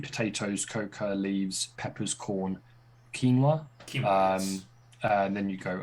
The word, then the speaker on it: quinoa: So going from sweet potatoes, coca leaves, peppers, corn, quinoa. And then you go, as I just very, very quickly remembered how to actually pronounce that word before I said something like curiano or something like that.